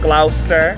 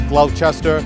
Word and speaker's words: Gloucester: Gloucester. It's not Gloucester or Gloucester. Gloucester.